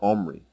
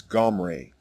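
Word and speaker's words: עמרי: It is not an E vowel as in the version Omri. The correct way to say the king's name is Gomre.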